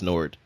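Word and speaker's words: Noord: is in I'm not exactly sure how you pronounce it is it Nord and oor D yes Nord yes okay so that's where it is it's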